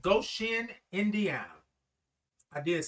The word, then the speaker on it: Goshen: Ann said, Goshen, Indiana. I did say it right. Goshen. Or is it Goshen? I kind of separated go and shin.